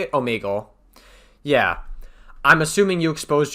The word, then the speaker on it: Omegle: Is that like Omegalol, or how you say it? Omegle.